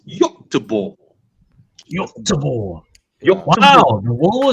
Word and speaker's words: Göteborg: The pronunciation for Swedish people is Göteborg.